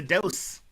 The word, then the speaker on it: DOSE: down um uh you you talk about uh dosd or dose I don't know if you pronounce it yep it is a dose which is um dopamine